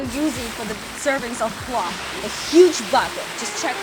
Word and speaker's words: plov: Today's star of the show is plov, rhyming with love, and trust me, it's a big deal in Uzbek culture and it's worth the hype.